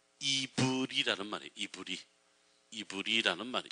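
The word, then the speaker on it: עברי: 아니고요 히브리 하는 말에 원래 히브리어로 직접 발음을 하면 이브리 아는 말이에 이브리 이브이는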